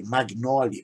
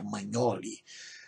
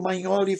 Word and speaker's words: Magnoli: Eu falei Magnoli, mas a pronúncia correta parece que é Magnoli.